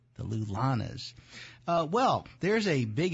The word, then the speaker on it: LullaNAs: do is simply Google them uh the Lanas is spelled l u l l a n a s the lulas uh well there's a big event in Philadelphia